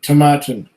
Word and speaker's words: Tomatin: Um, uh, Satin rhymes with Satin Tomatin. My favorite Tomatin of all time is Kubakken.